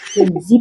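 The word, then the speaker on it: Gen Z: Oh, Genzi, Bu, bacanya. Oh, bacanya Genzi, ya?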